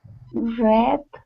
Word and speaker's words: read: Read a book. Right, so it looks the same as read a book, but we're speaking in the past tense. Read is the pronunciation.